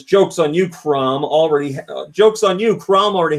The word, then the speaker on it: Chrom: Eric XC says, "Jokes on you, Crom. Jokes on you. Crom already had an amiibo." And how am I supposed to say his name? Chrome or Crom?